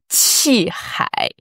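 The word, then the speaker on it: 气海: qui s'appelle Qi Hai. Qi Hai. Hai, troisième ton, c'est la mer.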